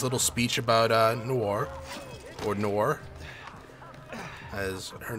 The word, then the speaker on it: Noore: Or Noore, as her name is pronounced.